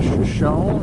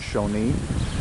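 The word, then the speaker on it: Shoshone: Hey guys, coming to you from the famous Crowbar Cafe and Saloon in Shoeshone or Shoeshone, California. I think the locals do pronounce it Shawnee. Anyways, real bright.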